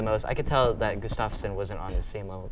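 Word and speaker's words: Gustafsson: to me how do you say to me Gustavus yeah Gustafson bro he looked he looked kind of scared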